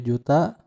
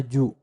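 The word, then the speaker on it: 十: Di dalam angka itu ada satuan, puluhan, ya, ratusan, ribuan, kemudian puluhan ribu, ratusan ribu, 1 juta, puluhan juta, dan sampai miliar, triliun, ya.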